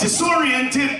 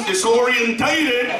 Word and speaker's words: disoriented: No, that's not how you say it! It's disoriented, but he said I was disorientated.